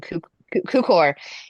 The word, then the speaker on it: Cukor: And so it's done by it's directed by George I'm going to say his name Tukor. wrong, Cukor.